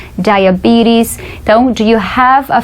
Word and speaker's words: diabetes: Diabetes, para quem não sabe, é diabetes. Olha só como a gente pronuncia diabetes.